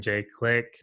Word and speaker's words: Jay Clique: If you're a Spotify head, or, you know, iTunes or Apple Music even, you can go there, just type in Jay Clique. The Clique is spelled like Clique, so it's CLIQUE, just for those who don't know, and Jay is JAY.